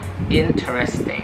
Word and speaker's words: interesting: Ya, next word nih, banyak orang yang pengucapannya interesting, interesting. Bisa interesting, interesting. Dan sebenarnya di sini hanya ada 3 syllable. Jadi kita bacanya interesting, interesting, interesting.